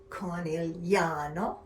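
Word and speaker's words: Conegliano: have the word Valdobbiadene, pronounced Valdobbiadene, or Conigliano, pronounced Conigliano.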